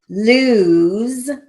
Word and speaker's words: lose: rock 92 do not lose your ticket stubs let's talk about lose lose is spelled in english l-o-s-e but it has a long u sound you have the choice